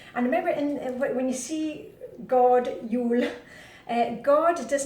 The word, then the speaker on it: god: And remember, when you see God, Jul, God does not mean God in Danish. God, you pronounce it go, means good.